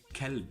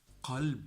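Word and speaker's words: قلب: And we mentioned in a previous video that if you say kalb instead of qalb, it's totally another word. It means a dog. Okay, so qalb is heart, and kalb is a dog.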